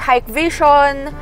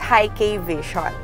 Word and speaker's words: Hikvision: Some call this as a hike vision or heat vision, HI vision. Pero sabi nila sa amin ang proper pronunciation daw nito is high K vision.